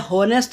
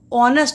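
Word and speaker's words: honest: एन हॉनेस्ट नहीं होता, ऑनेस्ट होता है, एच साइलेंट रहता है।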